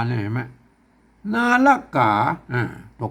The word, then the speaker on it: ก๋า: ตัว กะ นะ ครับ มัน จะ ต้อง ออก เสียง จัตวา นะ ครับ ก๋า นะ ครับ อือ คน เข้า ไป